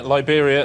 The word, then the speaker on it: Liberia: Yeah, Liberia, it rhymes with Siberia, and it's also a wrong answer.